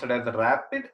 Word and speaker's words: RAPD: technique polymorphic marker technique called Aria PD it's pronounced it has the rapid it's abbreviated as random amplified polymorphic DNA but